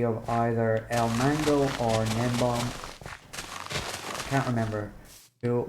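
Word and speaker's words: Gnembon: Nembom is spelled with a G at the start, so Gnembo-N, and El Mango is Ilmango.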